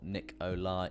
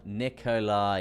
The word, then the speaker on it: Nikolai: about how it's pronounced it's more nick olai nikolai yeah okay i'm with you basically the english word lie okay i'm with you i'm with you i'm with you um it would be close to how it is pronounced okay nikolai right nikolai